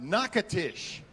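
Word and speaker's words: Natchitoches: a town in louisiana i'm told is pronounced nakatish i'll have him verify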